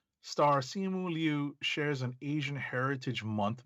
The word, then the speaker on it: Simu Liu: Also of note, he tweeted that the pronunciations May 2nd, that it's a Simu Liu and Shang-Chi.